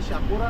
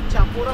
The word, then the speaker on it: शापोरा: एक महत्त्वाची नदी वाहते शापोरा नदी तिला चापोरा सुद्धा बोलतात बरेच जे काही युनिव्हर्सिटी मधून आलेली मंडळी असतात तर त्याला चापोरा आणखी बोलतात चपोरा बोलतात प्रोनाऊन्सिएशन मध्ये फार धमाल आहे उच्चार त्याचा शापोरा याचं कारण ऍक्च्युली त्या